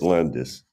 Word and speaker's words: Landes: you are Professor Landes yes am I pronouncing that correctly that's it Landis all right I usually start my interviews by